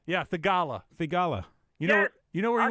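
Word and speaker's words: Theegala: Oh, Thigala? Yeah, Thigala.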